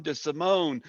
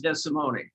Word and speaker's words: DeSimone: the show thank you it's testimony testimony yeah being italian we pronounce every consonant every vowel testimony okay my apologies i